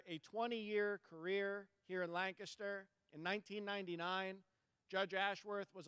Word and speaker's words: Lancaster: Welcome to Lancaster County. And it's pronounced Lancaster, not Lancaster.